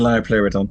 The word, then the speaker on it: Liopleurodon: Yes, the Liopleurodon. Yeah. Oh, very well done. Very well pronounced.